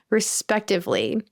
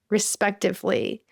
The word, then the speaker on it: respectively: Tom and Sarah scored 90 and 95, respectively. Respectively. And honestly, it's just sometimes hard to remember the correct pronunciation. Even if you're reading the word or looking at it, it's not respectfully, it's respectively.